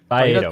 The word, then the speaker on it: Faedo: He was calling him Fado. That's why I said it like that. Everybody's an uncultured swine and doesn't like to pronounce these people's last names. Most people. The guy stinks. Faedo? I do apologize for that. Faedo, my bad.